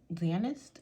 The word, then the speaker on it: Fzanest: by this brand called dentist I think the f is silent but I ordered this